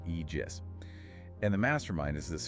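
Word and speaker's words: Aegis: The project is called Project Egis, pronounced Eegis, right? Egis.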